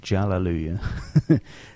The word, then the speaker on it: Jallelujah: competition class, was Hallelujah, spelt with a J, like Jallelujah.